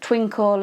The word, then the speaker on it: Twinkl: Twinkle website, which is spelled TWINKL, is also brilliant, again curriculum based, and at the moment I think they've got an offer on.